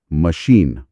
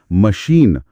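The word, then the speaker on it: machine: स्रोत का उदाहरण देखिए, मशीन, जोर शीन पर है, तो पहला अ पूरी तरह मैं नहीं बोला जाता, वो शॉ बन जाता है। हाँ, मशीन, मशीन।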